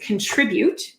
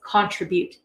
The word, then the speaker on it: contribute: So the word is contribute. This is the word that our speaker was meant to have said. She pronounced that word as contribute.